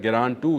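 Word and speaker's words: Geran-2: ऊपर का वर्जन है ग्रान टू इसको बोलते हैं। मैंने इसको पहले गलत लफज़ इस्तेमाल किया था। ग्रान टू इसका सही प्रोनाउंसिएशन है।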